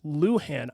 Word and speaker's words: Luhan: in that regard but when it comes to Mabel Dodge Luhan it is pronounced Luhan I even thought it was